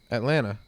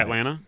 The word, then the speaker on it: Atlanta: Atlanta. Okay. What? Atlanta. Some people, People say some- Atlanta. no, some people pronounce the T.